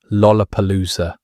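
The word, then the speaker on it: lollapalooza: The word contained four L sounds in rapid succession, creating an almost impossible pronunciation test for Japanese speakers. Instructions were reportedly given to listen specifically to the first two syllables. If those came back sounding like roar instead of Lola, centuries would open fire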